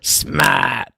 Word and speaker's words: smite: for what it's worth the uh smat is the boston pronunciation of smite exactly so yeah um